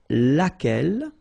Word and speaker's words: laquelle: Okay, so basically same rule, Q-U, U is not pronounced here, and then you get this E-double-L-E, well, phonetically here, it is the same as what we have here, so laquelle.